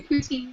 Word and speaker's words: poutine: I do poutine now.